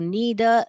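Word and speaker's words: neither: सो नीदर नेदर भी बोल सकते हैं, नीदर भी बोल सकते हैं, दोनों प्रोनाउंसिएशन करेक्ट है बेटा।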